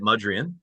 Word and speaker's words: Mudrian: I always say your last name wrong, but I'm going to try it. Mudrian, correct?